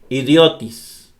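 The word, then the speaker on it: ἰδιώτης: Cuando se pronuncia una palabra griega, el tono de la voz debe cargarse en la sílaba donde aparece cualquiera de los 3 acentos. Por ejemplo aquí. Idiotis. El acento va aquí. Idiotis. No dice idiotis o idiotis. No, idiotis. Aquí.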